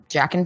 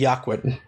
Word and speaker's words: Joaquin: Jackin Phoenix. It's Joaquin.